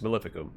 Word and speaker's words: Maleficum: to the sinus maleficum always emphasize the wrong syllables there but it's maleficum any delay condemns the